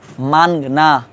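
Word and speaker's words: مانگنا: মানগনা, নুনটা উচ্চারণ করতেছি না, মাংনা। আমরা যাই দোকানে মাংনা দেন, মাংনা না মানগনা।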